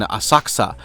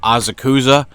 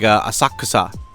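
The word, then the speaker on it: Osaka: at a youth hostel in in Asaka which I when I first came to Japan pronounced this azuza cuz uh I didn't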